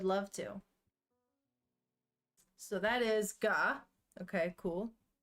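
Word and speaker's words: が: The G is always pronounced as a hard G. Don't be tempted to pronounce it like a J.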